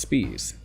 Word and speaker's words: Spies: And before long, he meet German immigrant and fellow labor agitator August Spies. Yes, that's how it's pronounced.